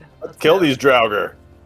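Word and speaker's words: Draugr: You guys go kill these droger. Send them to their final rest. Don't use the hard R, dude. My god. I mean, you're not technically linguistically wrong. The R is silent.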